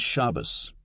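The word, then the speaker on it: Shabbos: An example is shabas. Sabbath with the accent on the first syllable.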